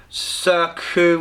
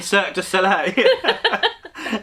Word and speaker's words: Cirque du Soleil: morning i'll send you the link to the circuit and i was like you mean cirque du soleil she was like oh is that how you